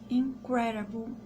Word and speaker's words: incredible: A 9ª é incredible. Eu achei super estranho porque eu não sabia disso. Então, o D pronunciando como R.